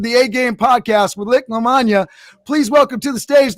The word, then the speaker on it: Lamagna: Nick Lamagna, pronounced like lasagna, right?